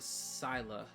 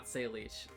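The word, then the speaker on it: Sileach: Apparently apparently this is she her name is pronounced sila not s leash like I haven't like you know phonetically it's it's sila which was surprising to me and then I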